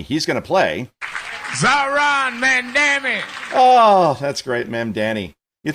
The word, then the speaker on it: Mondaire: It's not exactly complicated. I'm pretty sure it's phonetic. Mondaire Like you look at the name, that's how you Mondaire.